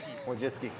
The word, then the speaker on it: Wojcicki: when you came out we have a phonetic pronunciation written right here Wiis Wiis without without that